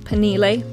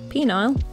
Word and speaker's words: Penile: Last time we explored the town of Penile, or Penile, as it should be pronounced, in Kentucky, and it was very quickly my most watched video.